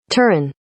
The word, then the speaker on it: Turin: reading room with the library now let's practice pronunciation of the major stops on their Journey turn turn turn turn turn turn brendisi brendisi brendy